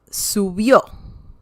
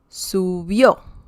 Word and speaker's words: subió: And I believe this too, this is the last syllable, subió. Colibrí. Okay? So we have an accent mark because colibrí ends in I. Okay? So that's why we have an accent mark. Also, subió ends in a vowel, so that's why we